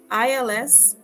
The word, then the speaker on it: ils: And finally, ils ont and elles ont. They have. ILS, il, sounds just like the singular form IL, but it means they